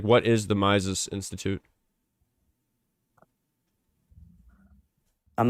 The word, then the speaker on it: Mises: It's not Miles. It's Ms. Institute. Spell it. M I S E S.